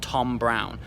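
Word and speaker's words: Thom Browne: They're from a brand called Tom Brown, and it's spelled T-H-O-M, and then Brown is B-R-O-W-N-E. So Brown has an E on the end, so it's like Thom Brownie.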